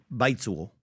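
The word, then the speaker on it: 白左: And so I'm not fluent in Mandarin, but it'd be something like baizuo, something like that.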